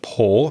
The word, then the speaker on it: pore: and the pronunciation of poor p o r e is the same as when you pour wine or water into a glass also it's similar to